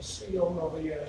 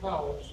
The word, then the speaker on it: Cowles: Our last name, Coles. Some people, C-O-L-E-S, is wrong. Some people pronounce it Coles. Today I introduced myself as Coles, but my actual name is Cowles.